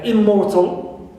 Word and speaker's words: immortal: Also, immortal. Right, immortal. Stress is on, not on prefix im, right, but on mortal, more, right.